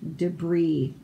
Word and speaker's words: debris: So we're missing our R's over here and our S's over here are silent, like the word debris. We spell it with that S, but we don't say it.